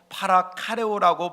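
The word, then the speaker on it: παρακαλέω: 여러분, 여기서의 위로란 헬라 원어로 파라카레오라고 발음을 합니다.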